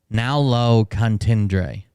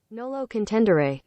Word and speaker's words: nolo contendere: it he pled guilty no contest um uh pronounce tendre now low contendre Nolo contendere oh no low contendra okay I was saying